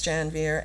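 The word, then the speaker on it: Janvier: included jackson beardy alex janveer and daphne ogig and i have to just say i'm saying janveer because that's how alex pronounces his name and i know that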